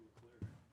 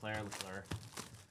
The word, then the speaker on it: Leclerc: You said Leclerc. Oh, Leclerc.